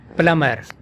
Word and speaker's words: plumber: Plumber. Plumber. B is silent in this word.